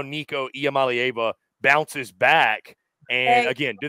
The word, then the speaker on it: Iamaleava: The last part. It's Iamaleava instead of Eva.